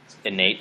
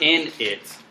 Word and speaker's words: innate: Inc record is called innate yeah innate it's it's not in it um who else came